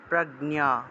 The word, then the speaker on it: প্রাজ্ঞ: সুচাস্তম অনুসার থাকায় ম প্রাজ্ঞা প্রাজ্ঞ প্রাজ্ঞ এভাবে উচ্চারণ হবে প্রাজ্ঞ বাদানসচ প্রাজ্ঞ বাদানসচ অনুসার